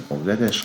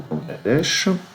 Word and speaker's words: Bangladesh: Puisqu'on est sur Wikipédia, on va jeter un coup d'œil au Bangladesh. Il y a plein de gens qui prononcent ça Bangladesh et je comprends pas pourquoi. B-A-N, jamais on prononce ça Bain.